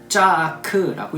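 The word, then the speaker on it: צָעַק: 이 부르짖다라고 하는 히브리어는요, 짜아크라고 읽습니다.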